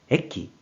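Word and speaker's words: 駅: 그래서 역이 되었고 뜻으로는 발음이 없고 음으로만 에끼, 에끼로 발음한다고 설명드렸어요.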